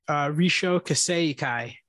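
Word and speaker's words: Rissho Kosei-kai: I'm going to have Elliot pronounce it because I butchered it when I was trying to explain it to him. Go for it, buddy. Risho Kaseikai.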